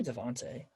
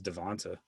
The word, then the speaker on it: Devonta: cop out but devonta is it devonta or devonte i don't want to say it wrong it's devonta devonta freeman um he's still